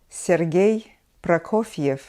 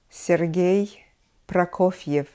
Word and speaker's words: Prokofiev: Nikolai Messner Rheingold glir Rheingold glir his student Sergei Prokofiev Sergei Prokofiev another teacher of Sergei Prokofiev was Anatoly lad